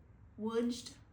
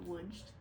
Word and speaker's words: Lodz: We just wrapped up 7 nights in Lodz, Poland, and that is spelled L-O-D-Z.